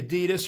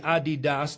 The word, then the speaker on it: Adidas: You see the Adidas or the Adidas depending on um your pronunciation logo there in red.